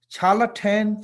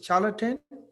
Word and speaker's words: charlatan: number eight yeah it's possible to mistake it challah 10 for the sida challah 10 it's correct pronunciation is a charlatan c h a r l a t a